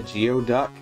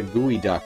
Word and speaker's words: geoduck: fruit is it isn't it just spelled like it sounds isn't it a geoduck or is it a gooey duck right i remember that